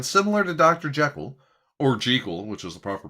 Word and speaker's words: Jekyll: the last name jiggle it's actually an old irish name and it's always been pronounced jiggle we're all just dumb